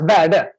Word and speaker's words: Verde: Well, you can say it like it sounds, Verde.